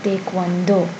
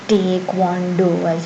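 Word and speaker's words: 태권도: Then there's taekwondo. Taekwondo, not taekwondo as you've probably learned in English or regular or what you say regularly, and it's not entirely taekwondo. Please don't say that. That's absolutely incorrect. Taekwondo, taekwondo.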